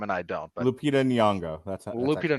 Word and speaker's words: Nyong'o: I can never pronounce her last name properly. Luongo, thank you. One of the few times you can know how to pronounce the last name and I don't. But Lupita Nyong'o.